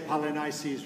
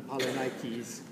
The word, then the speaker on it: Polynices: I think I'll say Polynices rather than Polynikes.